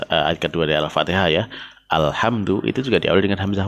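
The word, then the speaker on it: الحمد: Ya karena dia hamzah wasalnya bersanding dengan lam ta'rif, maka dia dibaca fathah.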